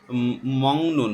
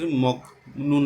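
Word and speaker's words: 먹는: থুকবিরান মানে হচ্ছে বিশেষ নাল দিন বিশেষ দিনের মংনুন মগনুন এখানে উচ্চারণ করা হচ্ছে কারণ আমরা জানি গিয়ক বাচ্চিমের পরে যদি নিয়ন আসে তাহলে গিয়কের উচ্চারণটা ইয়ং এর মধ্যে উচ্চারণ হয় এজন্য আমরা এটা মগনুন উচ্চারণ করছি মগনুন না বলে এখানে বলছে যে মংনুন উমশিক খাওয়ার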